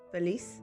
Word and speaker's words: Feliz: Feliz.